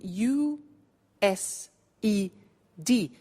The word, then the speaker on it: used to: now this verb used to well it's written u s e d but the pronunciation is used and we'll see that on